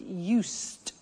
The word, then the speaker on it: used: I said used, with a T sound. Used, not used or used. Used. That's very important to distinguish it from the other verb, use.